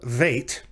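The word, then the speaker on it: ב: separate letter from bait called vait and that is a clue that unlike this count unlike the way this is pronounced with the dot without the dot it's pronounced like the letter v in vine so it's not b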